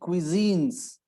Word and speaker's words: cuisine: So cuisines, it's not cuisines, it is cuisines. Although the spelling has CU, but it is cuisine, CUI. Cuisine.